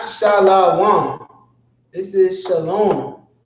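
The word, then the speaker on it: שלום: this is not shall I want this is Shalom how does he know because he made the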